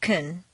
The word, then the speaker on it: can: Reduce the positive can to kun and stress the verb. Make the negative can't sound very short and stress both can't and the verb.